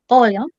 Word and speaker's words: olham: Eu olho, você olha, nós olham. Não, nós olhamos. Você olha. Vocês olham. Olha. Isso, olham. The stressed syllable is before last.